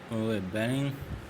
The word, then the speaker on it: benign: Benign, benign, benign है इसकी pronunciation, kind और जेंटल, उदार, सॉब, benign, toward benign green development, steer, what does it mean of steer?